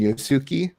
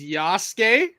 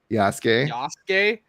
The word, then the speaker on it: Yasuke: protagonist adventure with, here we go, Neo and Yosuke, bringing two different gameplay styles. You can let me finish the sentence and then you can tell me how to pronounce. It's Yasuke. Yasuke and Naue.